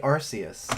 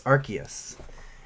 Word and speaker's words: Arceus: Like some people say Arceus, and I'm like, gross. It's Arceus.